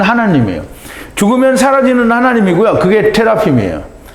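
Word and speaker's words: תרפים: 그게 테라핌이에요. 이게 드라빔이죠, 드라빔. 네, 그리고 이제 히브리 발음을 받은 대로 하면 테라핌이 되는데요.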